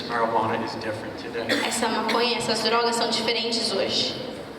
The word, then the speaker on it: maconha: essa maconha, essas drogas são diferentes hoje. How do you say marijuana? You said maconha? Macarrão? Marijuana in Portuguese. Maconha.